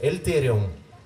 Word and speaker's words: Эльтериум: Да, чтобы все услышали хорошо, название наше правильно произносится. Эльтериум.